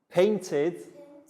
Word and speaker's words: painted: going to be about the final e d sounds with verbs and the three different ways we pronounce it walked like a t painted like i did and played just like the d so what we'll